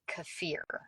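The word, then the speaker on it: kefir: raw um milk so I just buy uh cfir is how you say the K you know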